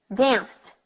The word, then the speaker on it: danced: verbs in the past I go from the con to the tea straight I don't say the e I don't mention it so I'm gonna say cooked cooked danced danced helped helped left